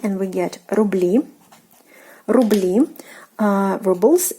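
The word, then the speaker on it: рубли: E, and we get rubli, rubli, rubles. And again, the stress position is changed, ruble, into rubli. So again, the stressed syllable is the last one, which is actually the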